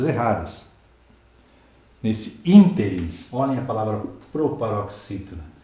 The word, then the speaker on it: ínterim: Nesse ínterim, olhem a palavra proparoxítona. E há quem diga nesse interim, como se fosse oxítono.